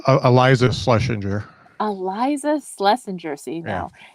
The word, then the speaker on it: Iliza: Is it Liza? It's Iliza Shlesinger. Iliza Shlesinger. See, now I'm learning how to pronounce these names.